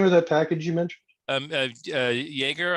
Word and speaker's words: Jaeger: Jaeger, I guess it's pronounced. It's just JAEGER.